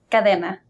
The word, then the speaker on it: Cadena: Cadena.